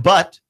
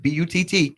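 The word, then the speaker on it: Butt: year in in college Jake but spelled exactly like how you think it is spelled Jake bu TT Jake but has a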